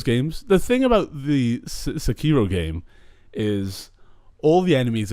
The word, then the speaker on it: Sekiro: Sekiko? The Sekiro. Sekiro. That sounds better than whatever I was trying to say.